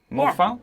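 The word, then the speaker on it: Mo Faal: Mo Fowl?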